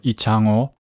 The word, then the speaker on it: Lee Chang-ho: I would call it a biopic of Lee Chang-ho and Hun-hyun, or Lee Chang-ho, as you would pronounce in Korean, who are legendary Go players.